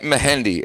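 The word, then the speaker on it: Mehndi: He said they call it mahendi. Catherine. M E H M E H E N D I think it was Yeah. M E H A N DI. We call it We call it Mahendi.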